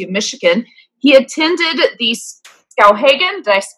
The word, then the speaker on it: Skowhegan: from the University of Michigan, he attended the Skowhegan, did I pronounce that correctly? Skowhegan, yes, excellent.